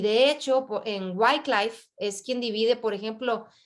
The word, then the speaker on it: Wycliffe: y por ahí Wycliffe, de hecho hay una editorial de Biblia, Wycliffe, se escribe W-Y-C-L-I-F-F-E, Wycliffe.